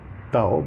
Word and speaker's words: Tao: Well, I mean, it's spelled T-A-O, Tao, but it is pronounced in Chinese, Tao, The Tao of Pooh.